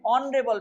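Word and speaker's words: honourable: लेकिन यहाँ भी एच से स्टार्ट है, लेकिन अंतर क्या है, यहाँ पर ह का साउंड जो है नहीं आ रहा है, क्योंकि यहाँ पर एच का साउंड क्या होता है, वो होता है साइलेंट।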